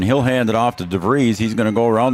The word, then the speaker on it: DeVries: He says it's pronounced DeVries.